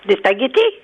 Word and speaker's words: spaghettis: Des spaghettis? Des spaghettis? Elle dit le G. Non, elle a dit le G. Elle le prononce très bien. Elle dit comme moi, des spaghettis.